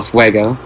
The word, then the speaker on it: Fuego: I have the Headstone Quest one where you hear Johnny Depp saying Padres del Fuego, so I know it's pronounced Fuego.